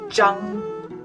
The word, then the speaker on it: Zhang: ZH is pronounced as J or J. ANG is Ong. So altogether it's Zhang.